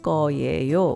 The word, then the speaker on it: 거예요: 서울, Seoul, 지금, now, 추울 거예요, which is pronounced 추울 거예요, which in this context would mean is probably cold.